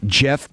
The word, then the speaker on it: Geoff: I mean, Jeff Petrie, and it's spelled like Geoff, which is the worst.